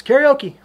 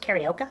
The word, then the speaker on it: Carioca: So, when your coach yells, karaoke, just say it. Coach, it's pronounced Carioca.